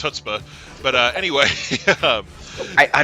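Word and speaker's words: chutzpah: want to see that happen right okay it's pronounced hutzpah but uh anyway I I don't know what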